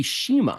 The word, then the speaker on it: Chima: yeah so it's actually Shima Shima it's yeah the Portuguese pronounce it Shima even though it's spelled